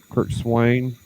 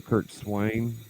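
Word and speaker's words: Curt Swan: favorite um kirk swan kurt swain that's how doc told me to say his name kurt swain i've never heard it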